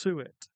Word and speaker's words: suet: It's pronounced suet. Oh, okay. Pudding. Suet pudding.